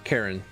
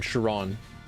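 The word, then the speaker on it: Charon: knowing that you you pronounced Karen the the fairy the Fairman of the dead as Karen rather than Chiron I'm distraught ooh it's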